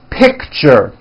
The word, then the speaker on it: picture: chain lunch box Richard that's a tricky one it's two syllables you pronounce it pick sure picture teacher Fortune nature beach